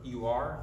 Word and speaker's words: Ur: Abram was a man who lived in the city of Ur, U-R, Ur. That's how you pronounce it.